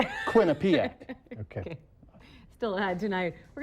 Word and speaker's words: Quinnipiac: Welcome to all the teams from Quinnipiac and I think all them other. Is that how you pronounce it? No, it's not it. Quinnipiac.